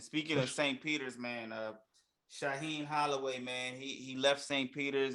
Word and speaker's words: Shaheen Holloway: How you pronounce his name? Shaheen Holloway. Shaheen Holloway.